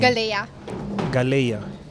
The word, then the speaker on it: Galaiya: I had a hard time, but how do you pronounce the second name? Galaiya.